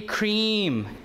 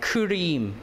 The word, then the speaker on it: cream: Number 3, cream is also long, right? Cream. I think Korean would pronounce it like kurim, kurim, right? Kurim.